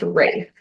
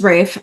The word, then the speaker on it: Ralph: Ralph oh it is Rafe I read that today too and it's raai fines it rhymes with safe signs that's what his trivia says on I'm de I'm deceased um my problem with Rafe in this role is